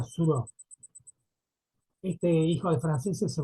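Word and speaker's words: Thoreau: autor que se llama Henry suro tau con una H por eso se pronuncia suro este hijo de franceses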